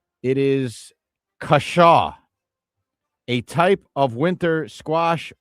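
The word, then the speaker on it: cushaw: And uh I will tell you what it is, and you need to spell it for everyone. Okay. It is kashaw, a type of winter squash or pumpkin known for its curved neck and sweet yellow flesh.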